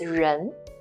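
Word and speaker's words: 人: with the longer left curve left stroke it's pronounced as Rin Jean this means person we can combine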